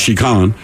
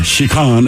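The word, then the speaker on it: 痴漢: a word for him it looks like chicken but I believe it's pronounced chican anyway it describes men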